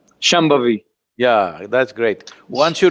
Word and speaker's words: Shambhavi: so this process is called shambhavi can you pronounce shambhavi shambhavi yeah that's great once you do it you